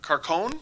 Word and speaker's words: Carcone: The trade, Levo for Carcone, apparently. That's how you say it.